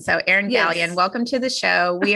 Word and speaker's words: Galyean: And I love that you told me beforehand, Galyean rhymes with scallion. So, Erin Galyean, welcome to the show.